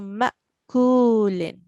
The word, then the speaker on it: مأكول: So we have to make sure, that's very important, that the ayn, we don't pronounce it as ayn. Ma, that's wrong. That would be wrong sound. So ma'kulin. So we are now going to practice this as well about the hamza sakin.